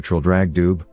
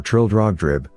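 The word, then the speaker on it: Traldragdubh: and my retinue to troll drag dube or trill drag drib for it is pronounced both ways as near as i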